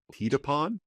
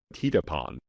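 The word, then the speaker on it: Thidapon: Okay, the th is usually pronounced t. We know that. So, let's see. Tedapon.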